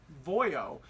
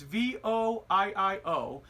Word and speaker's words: VOIIO: I'm pronouncing it properly it's void oh it's vo III Oh in fact in my last video believe when I did the review on it I thought it was vol L oh but it's actually